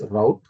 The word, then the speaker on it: route: and are group so Europe people they will pronounce route the rest of the countries they will pronounce rout okay Europe people they